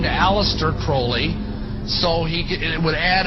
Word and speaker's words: Crowley: have his name pronounced crowley to rhyme with holy and uh the satanist